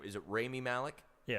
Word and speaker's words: Rami Malek: It was pronounce really the actor's name. Is it Rami Malek? Yeah, Rami Malek.